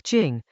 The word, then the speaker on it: Jing: Dao pronounced like Dao and now, the like Dao, Jing like Jing, turns our ordinary sense of excellence inside out.